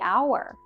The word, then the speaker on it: hour: orchestra the Apple the hour again our starts with the consonant H but we don't pronounce the h sound in this word so it begins with a vowel sound okay now we know